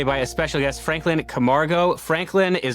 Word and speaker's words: Camargo: You did it right. Camargo. That's perfect. Perfect. Camargo. Excellent.